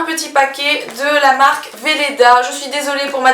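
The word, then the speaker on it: Weleda: dessus dans ce cas-là donc j'ai dit Weda et maintenant je sais que ça se prononce Veleda sachant que honnêtement ça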